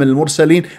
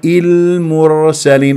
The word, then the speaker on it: المرسلين: احرف التوسط للعمر نبا المرسلين والبعض المرسلين شوف كيف نطقت الراء مضمومه سحاب الضمه الميم دمرت الحرف الساكن فاذا اياك ان تسحب ضمه الميم الى الراء المرسل غلط المرسل المرسلين والراء والتفخيم بينه يقرا